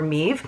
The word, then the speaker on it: Maeve: alongside her mother Maeve oh so it's m-e-a-b but it's spelled Maeve or meve so look how beautiful